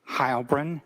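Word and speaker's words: Heilbrun: My name is Hybrin. That's spelled and then H E I L B R U N.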